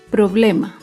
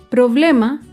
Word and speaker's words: problema: Otro ejemplo de palabra grave sin tilde es la palabra problema. Problema se acentúa en la penúltima sílaba, pero no lleva tilde porque termina en vocal.